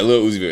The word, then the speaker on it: Lil Uzi Vert: What is it, Lil Uzi? Uzer? Is that his name? I want to say his name wrong. I don't listen to him. I know he's pretty popular. Little Uzi Vert. Yeah, Lil Uzi Vert. Yeah, I was close.